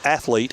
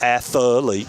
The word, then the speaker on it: athlete: and radio please uh understand that athlete has two syllables it's not athlete it's athlete athlete it's not nucle it's